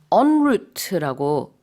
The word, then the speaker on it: en route: 그래서 이걸 en route라고 하지 않고요. en route라고 불어식 발음을 조금 살려서 얘기합니다.